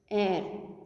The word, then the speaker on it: heir: the what's the pronunciation air what is the spelling h e i r here h is silent hair means the one